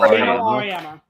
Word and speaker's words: Auriemma: How do you pronounce it? Gino Auriemma.